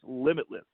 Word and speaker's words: Limbitless: It's the name of the film is Limitless, but it's spelled with a B, Limb, limb hyphen itless, LIMBITLESS, adventure songwriting.